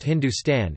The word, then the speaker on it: hndstn: Thapar states that the word Hindu is found as Heptahindu in Avesta, equivalent to Rigvedic Sapta Sindhu, while Hndstn pronounced Hindustan is found in a Sasanian inscription from the 3rd century CE, both of which refer to parts of northwestern South Asia.